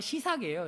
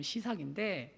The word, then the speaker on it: 시삭: 여러분, 발음이 좀 어려워요. 쇼생크 탈출이라는 영화 아시죠? 네, 그게 발음을 하면 시삭이에요. 여기 나오면 시삭인데, 그러니까 시삭 왕조가 된 거예요.